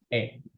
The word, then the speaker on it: へ: kita belajar partikel ya partikel ini dibacanya e padahal tulisannya kan Hiragana tapi kalau sebagai partikel kita bacanya e doang nggak ada partikel E